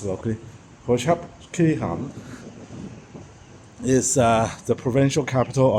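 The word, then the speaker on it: Prachuap Khiri Khan: Porchep Kirhan that's how they pronounce it locally. Praep Kirhan is uh the provincial capital of the province of Praap Kirhan.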